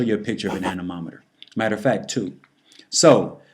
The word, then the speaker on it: anemometer: is blowing and anemometer and that's how you pronounce it anemometer measures wind speed so the definition anomer a